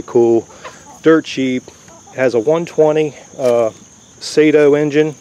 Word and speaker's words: Saito: dirt-cheap has a 120 sato engine I guess it's pronounced Sato s aito which are very popular